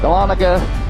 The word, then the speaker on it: Dahlonega: We are downtown Dahlonega. Why these people don't pronounce it Dahlonega is beyond me, because that's how it should be pronounced, because it's cooler that way. But anyway, we're right downtown Dahlonega.